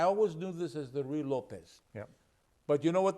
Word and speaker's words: Ruy Lopez: My best attempt at pronouncing it would be Ruy Lopez. Ruy Lopez?